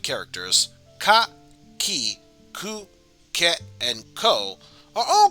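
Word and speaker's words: く: We pronounce this one as ku.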